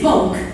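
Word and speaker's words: Bulc: transport commissioner from saliva mrs bulk apparently pronounced hulk sheep wants all cars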